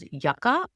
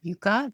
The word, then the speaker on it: Yuka: And it's called Yucka or Yuka, depends on how or where you live, I think, of the pronunciation, but it's spelled Y U K A.